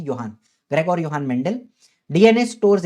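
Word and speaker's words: Johann: तो हमारे Gregor योहान, जोहान लिखा है लेकिन उसका करेक्ट प्रोनाउंसिएशन है योहान, ग्रेगोर योहान मेंडल।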